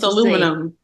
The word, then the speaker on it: aluminum: that's the African way that's the other way aluminum you haven't noticed Americans just have their own way of pronouncing stuff that's what my dad said that's